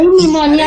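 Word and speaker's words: pneumonia: अरे निमोनिया में भी तो पी साइलेंट रहता है।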